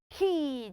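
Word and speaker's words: quay: in your school so the word q u a y is not pronounced why it is pronounced word key children say it with me say key key key excellent well done and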